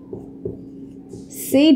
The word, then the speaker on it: said: এর উচ্চারণকে আমরা বলি সেইড, সেইড, কিন্তু এটা আসলে সেইড হবে না, said হবে না, বলতে হবে simply said.